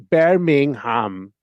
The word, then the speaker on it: Birmingham: I had ridden out of the city of Birmingham, pronounced Bingham.